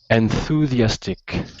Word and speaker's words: enthusiastic: sentence extremely enthusiastic enthusiastic enthusiastic enthus with a z enthusiastic almost Zas enthusiastic enthusiastic that's perfect